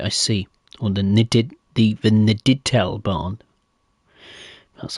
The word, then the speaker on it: Niedertalbahn: Or the Niedertalbahn.